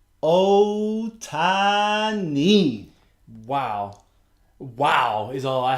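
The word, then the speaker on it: Ohtani: But, the first 2 weeks in, it's 3 syllables, brother. Otani.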